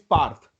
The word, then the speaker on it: Parth: So for example, in your name, P becomes P, Paw. correct? A Yes. becomes A, Ah. R becomes Or raw. R, and TH becomes Thaw.